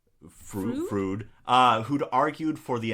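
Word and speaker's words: Froude: James Anthony Frucking say that it's not Freud Frud uh who'd argued for the inherent racial inferiority of the black population of England's colonial holdings.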